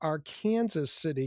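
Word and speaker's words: Arkansas City: City is short for Arkansaw City, Kansas and that's how we in Kansas pronounce it.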